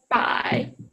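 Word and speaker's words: 百: you can continue and 100 in Chinese is Bai yeah so yes it's a buy because it's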